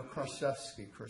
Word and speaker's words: Kraszewski: No, Kraszewski.